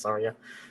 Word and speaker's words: Tharja: crap, or I guess I would say Tharja, but because the Japanese pronunciation is Tharia. But I truly was not sure how to pronounce it when I played Fire Emblem Awakening, but this game only has a Japanese voice track, and they're saying Tharia all the time.